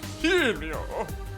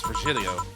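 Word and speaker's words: Virgilio: now we meet again bartender you look winded vilo it's pronounced vilio no I'm pretty sure it's vilo you said as much the last time you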